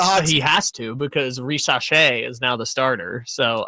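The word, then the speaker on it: Risacher: It's Zachary Risache. Why are those the only 2 options? Because that's just how you say it. He's French. He's Risache.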